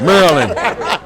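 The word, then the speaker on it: Maryland: you know he from cuz that's how you pronounce it from down there merland you from you from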